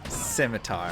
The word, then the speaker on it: scimitar: at once there and is nice yes it's pronounced scimitar i know sometimes just gotta have fun all